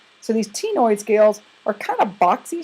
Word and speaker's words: ctenoid: And then you have what are called ctenoid scales. So the C in the beginning is silent. So these ctenoid scales are kind of